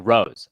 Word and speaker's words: Ruse: Oh, Ruse, pronounced like Rose.